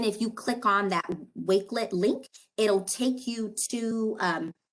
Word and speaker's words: Wakelet: Is that how you say it, Nairi? Wakelet? Wakelet, right? Wakelet. Wakelet, you are correct.